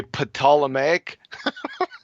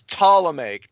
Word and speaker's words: Ptolemaic: the P and say potala make like pan ammonia you don't pronounce the P clowns it's Ptolemaic t the P silent